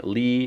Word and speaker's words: 力: and you know here we have the pronunciation Lee it's Neil Akuma so we know it's the fourth tone so Lee and in an arc